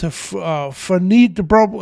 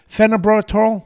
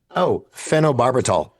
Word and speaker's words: phenobarbital: again, his wife, Donna, who was given this phenidibro, I can't pronounce it right, phenobarbital oral.